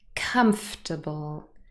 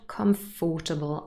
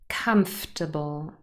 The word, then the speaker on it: comfortable: on the first syllable comfortable it is not comfortable i know the o r is not really pronounced comfortable vegetable again the second